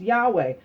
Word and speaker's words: Yahweh: Clement of Alexandria in the 2nd century had used a form like Yahweh, and this pronunciation of the Tetragrammaton was never really lost. Many Greek transcripts also indicated the YHWH should be pronounced Yahweh.